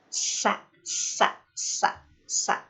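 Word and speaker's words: س: Jika karakter huruf sin itu adalah tipis, atau istilah tajwidnya itu adalah tarkik, maka kita membacanya harus sempurna, ditipiskan gitu. Sa, sa, sa, sa. Tipis karena pangkal lidahnya menurun ke bawah seperti itu.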